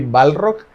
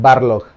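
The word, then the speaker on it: Barlog: Ah, siempre lo pronuncio mal, suelo decir Cory Balrock, pero es Barlock.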